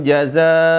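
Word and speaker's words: جزاء: Inna hadza kaana lakum jaza waana sayukum Maskur tarik napasnya dulu ya di sini dipanjangin jaza mad wajib ini sering kali teman-teman membacanya harakat yang benar adalah dibaca dengan 5 harakat sampai 6 harakat ya adapun yang EMP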